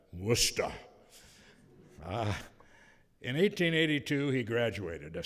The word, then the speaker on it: Worcester: My East Coast friends tell me that I should pronounce that Worcester.